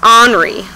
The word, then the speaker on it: Henri: today is henry matisse his name is actually pronounced henry because he's french henri matisse hopefully i said